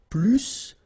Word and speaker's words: plus: And so the last structure, if you want to compare with a verb, then in that case, remember, plus will be with the S. So pronounce it plus que.